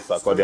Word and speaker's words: Sarkozy: They say Sarkozy. Yes, Sarkozy. Yeah, they pronounce it like French.